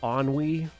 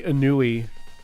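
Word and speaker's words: ennui: at least two Dimensions do you all know the word onwe yeah I had to listen to a guy that's reportedly has a master's degree say anui over and over and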